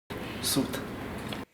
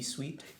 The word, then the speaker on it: suite: reading your mind um so it's pron it's funny because if you it's spelled s UI T yeah if the E A lot of people